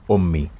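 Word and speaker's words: أمي: it will be and when i put this shape on the top which is called damma it will give me the o sound like in the word omi and hamza at the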